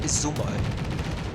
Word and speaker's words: Izumo: Wait, it's pronounced Izumo.